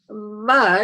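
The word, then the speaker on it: व: Va is, as you pronounce, you can see that it's a labiodental sound.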